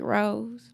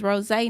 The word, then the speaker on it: Rose: Ros is spelled like rose, but don't call me Rose. is rosé, not the flower.